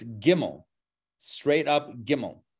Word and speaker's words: gimmel: we're using in english the g sound is a get sound it's a hard g it's not jimmy right it's not even jimmy kimmel it's gimmel straight up gimmel right